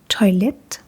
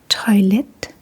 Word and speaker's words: toilet: It is pronounced a little bit differently, but other than that, it's pretty much the same. So, in Denmark, we say toilet, toilet, v toileted, v toileted.